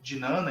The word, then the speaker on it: Jnana: Ela tem esses 3 aspectos, que é o Jnana Yoga, ou Gnana Yoga, depende da pronúncia, que seria a yoga do conhecimento, né?